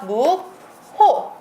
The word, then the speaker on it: 묵호: 묵호. 앞에 거 한번 비교해 볼게요. 놓고라는 단어가 있습니다. 그러면 발음은 뭐라고 하죠? 놓고라고 발음을 하죠. 얘는 뭐라고 발음하나요? 무코라고 발음을 합니다.